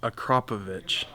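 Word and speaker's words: Akrapovič: way to pronounce that the right way to pronounce that is akrapovic nope not for me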